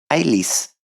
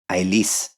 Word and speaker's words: Ælis: Per definition, it will have to be pronounced with more stress on it than both the following and preceding root. Therefore, we say Ælis and never Ælis. We say Ælis and never Ælis or Ælis.